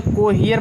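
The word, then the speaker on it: cohere: इसी तरह से कोहियर पढ़ा जाएगा। कोहियर माने अनुरूप होना, COHER, COH को हो गया, ई से ई आ हो गया, कोहियर।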